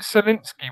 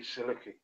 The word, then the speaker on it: Sulecki: For some reason, why is it Solinsky when it's spelt Sulecki? It's the Americans thing on HBO, so I'll just say Solinsky, but it's meant to be Sulecki.